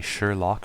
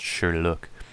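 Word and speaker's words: Sherloque: Sherlock wells's name correctly they would always say Sherlock or sure look but it was pronounced sure look so a lot of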